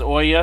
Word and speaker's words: Ouya: I always heard it pronounced as Oya, so that's what I'm going with.